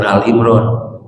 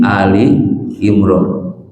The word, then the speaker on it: Ali Imran: Makanya bacanya jangan Al Imran ya. Tapi Ali Imran, keluarga Imran.